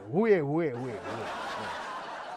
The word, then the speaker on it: Huawei: Hey, how do you pronounce that name? Xiaomi, nahi? Who, highway, way. Oh, what is that? No, Huawei.